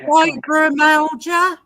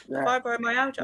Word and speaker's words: fibromyalgia: I know what it is, but I can't pronounce it. Go on, try, Kate. Make my day. Fibromyalgia. You said it perfectly. You said it better than me. Yeah. Fibromyalgia.